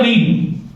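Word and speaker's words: read: अब इसकी स्पेलिंग जो है वो सेम रहेगी, लेकिन इसका जो उच्चारण है, प्रोनाउंसिएशन, वो हो जाएगा रेड। First form रीड, second form रेड और थर्ड फॉर्म रेड।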